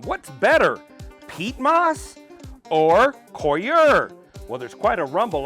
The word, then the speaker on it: coir: What's better, peat moss or Coir?